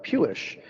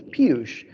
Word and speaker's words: Piyush: for me but um I call myself pewish which it rhymes with Jewish and that was easier for me and my sister still calls me that even though that's not my real name my name is piyush it was only until